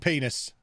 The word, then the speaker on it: Penis: Oh, pronounced pennies. It absolutely isn't. It's very clearly pronounced penis. It's like you knew. It's obviously pronounced penis.